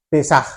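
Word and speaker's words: Pésaj: De acuerdo al Nuevo Diccionario Ilustrado de la Biblia, la palabra Pascua viene del vocablo hebreo Pesaj, o Pesaj, que lleva tilde, ¿verdad?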